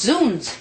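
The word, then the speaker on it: zounds: objection what's Z it's pronounced zoons it means God's wounds a medieval exclamation killing yikes why are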